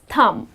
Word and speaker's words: thumb: Tom you got to correct them the correct pronunciation is thumb the letter B is silent and then the